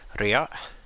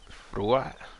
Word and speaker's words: Ra: So Ray's name was probably something like Rea, and it's or Rua, I can't remember, and then it survives in Coptic as Ray, which is just the word for sun.